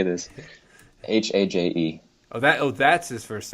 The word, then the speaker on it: Haje: Haje.